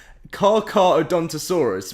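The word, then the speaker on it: Carcharodontosaurus: gonna put some here oh you've actually put the pronunciation here call it a which is what i always say or the pronunciation is the car car oh don odontosaurus okay so carcadontosaurus wow okay that is a crazy name um so i've been getting it wrong the whole time the bleed due to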